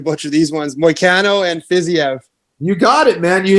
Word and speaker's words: Fiziev: No, I'm definitely going to butcher these ones. Moicano and Fiziev.